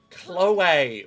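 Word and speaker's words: Chloé: Chloe. Chloe! Put the accent on the end.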